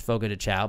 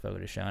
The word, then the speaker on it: Fogo de Chão: It's Fogo de Chão, but it's officially pronounced Fogo de Chão.